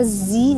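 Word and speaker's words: ز: C dengar itu mawajiuh jadi Za itu terkesan bunyinya seperti Huruf Jim gitu ya huruf Ji gitu ya padahal itu Zaza hati-hati loh teman-teman bacanya zzi nah di mana huruf Za ini keluar Zi Zi Zi ujung lidah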